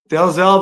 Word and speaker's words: Dalzell: Is it Dalzell? Dalzell, buddy. Yes, sir. I like to pronounce all the letters. Apparently, it was a Scottish name, and some Okay. pronounced it Dazzle, but Oh, Dazzle?